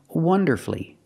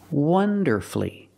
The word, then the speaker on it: wonderfully: beautifully and he performed wonderfully wonderfully three syllables don't pronounce a u you have two syllables